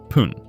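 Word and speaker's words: 分: The counter for minute is fun, which is sometimes pronounced pun.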